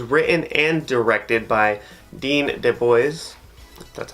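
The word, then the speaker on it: DeBlois: this movie was written and directed by Dean Dubois that's how you say his name yeah well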